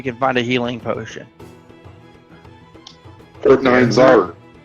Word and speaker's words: Nyanzaru: Port Nyanzaru. Nyanzaru.